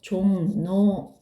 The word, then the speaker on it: 종로: 4번은 뭐라고 발음되죠? 종로 이렇게 발음이 되네요.